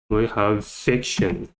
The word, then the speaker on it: fiction: Next, we have fiction. Fiction. Stress is on the first syllable, so we have fiction.